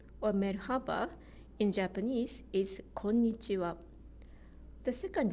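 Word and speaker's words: こんにちは: are five bits konnichiwa when it's written in Roman alphabet you might think there are only four syllables konnichiwa but if you say Konnichiwa in four beats it sounds strange to us because a beat is missing here so that's about Japanese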